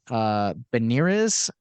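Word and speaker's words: Bernières: I'm probably gonna mispronounce this because it is Italian, but Benirez.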